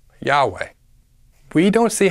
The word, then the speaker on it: Yahweh: four vows I a iota Alpha Epsilon and alpha pronounced as Yahweh we don't see how